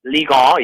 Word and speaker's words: Ligue 1: All right, in the French Ligue 1, so you pronounce it Ligue 1? Ligue 1, yes.